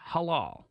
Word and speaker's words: halal: this Thursday is probably Halal if it's or if I were to say it properly because it hurts my throat Halal if it's a Butterball